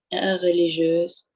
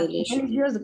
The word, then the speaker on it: religieuse: Religieuse. Да, религиоз. Говорили религиоз, ну там Г произносили.